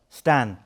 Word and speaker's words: Stijn: My original name was Stijn. Stan. Exactly. See, because you're from Belgium, it's spelt S-T-I-G-N.